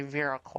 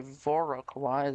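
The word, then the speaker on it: Viroqua: Because apparently when I say Veroqua, I'm saying it wrong. Well, people who say Voroqua is saying it right.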